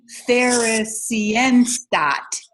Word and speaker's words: Theresienstadt: I don't know exactly how to pronounce this. I don't speak German. I think it's Theresienstadt. Theresienstadt.